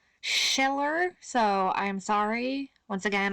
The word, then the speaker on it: Schiller: philosophy and play friedrich skiller hi hello this is editing holly here i realize actually i've mispronounced this man's name throughout the entire video so forgive me it's actually friedrich schiller schiller so i'm sorry once